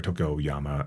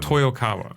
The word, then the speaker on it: Toyokawa: the history of Toyama uh or toyoyama um say I'm not saying it right um toyokawa toyokawa thank you so I typed it